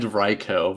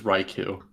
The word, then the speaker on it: Raikou: rycoon it's riko riko it's said ryko but everyone says raiku it's like that's like